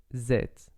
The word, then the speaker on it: êtes: Pretty much the same with vous êtes. So you just pronounce vous and then zet, like with a Z. And you don't pronounce the final ES.